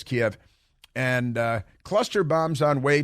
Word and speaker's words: Kiev: They mispronounce it as Kyiv, but it's Kiev.